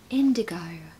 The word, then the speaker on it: indigo: And what a lovely word, indigo. Pronunciation tip, if you want a British accent, make sure you make the alphabet O at the end.